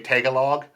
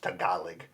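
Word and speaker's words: Tagalog: They actually they actually say tealog. And it's not tealog. It's actually pronounced tealig.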